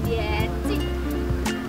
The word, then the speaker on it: 点心: Kosa kata kedua kita adalah Tian Cik. Tian, cara bacanya Tian, Tian, bernada 3. Kemudian Cik, bernada netral.